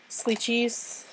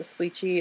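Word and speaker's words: Slicci: So you can use things like Sleechies. You can use these on it. These come from Jet Pens. I think they pronounce it Sleechy. It's spelled S-L-I-C-C-I, Pentel.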